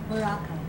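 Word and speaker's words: Boracay: Borakai.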